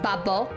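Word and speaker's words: 바보: So, yeah, it's actually pronounced babo. Babo. Babo is it in Korean, but babu.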